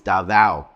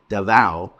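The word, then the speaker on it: Davao: to talk about is Dava I recently started Living in Dava I keep wanting to pronounce it Dava but people here keep telling me it's da so I got to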